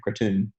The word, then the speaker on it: kratom: advertising CBD oil and cartoon or kratom sometimes the way they pronounce it here so talking to DEA